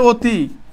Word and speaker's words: অতি: ভাই, দেখো কি বলছে, দেখো অধ্বনির পর রস্যই অথবা রস্যাউ, রস্যই অথবা রস্যাউ যদি থাকে তাহলে ওই অধ্বনির উচ্চারণটা কি হবে? সংবৃত্ত হবে, অর্থাৎ অধ্বনির পরে কি থাকবে? রস্যিকার থাকলে। যেমন বলছে অতি, কি বলছে?